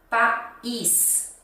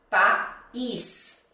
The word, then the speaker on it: país: Depois a segunda, país. País. ênfase na segunda sílaba, is, país.